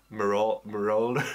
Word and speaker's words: Marauder: Marauder.